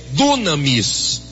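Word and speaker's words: δύναμις: Então, no grego, a palavra virtude, no grego, o significado, a pronúncia, a escrita da palavra poder ou virtude no grego é dunamis.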